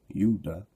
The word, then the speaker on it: Judah: they said uh so these descendants of yahuda or yudah which is the true pronouncing of Judah yudah Mr Marie says the